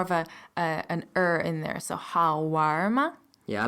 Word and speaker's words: 好玩吗: The way to say was it fun is 好玩吗?